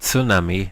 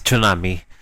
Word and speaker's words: tsunami: Okay, pet peeve: the people who pronounce tsunami as tsunami ought to get slapped.